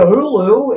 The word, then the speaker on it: Hulu: it isul time yes I subscribe to Hulu it rhymes with Zulu it's got to count